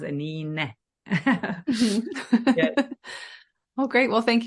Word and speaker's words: Anine: My name is a bit unique, Anine, and pronounced Anine.